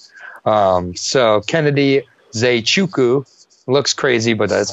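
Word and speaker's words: Nzechukwu: fight it out 47 right so Kennedy is a Chuku looks crazy but that's how you say it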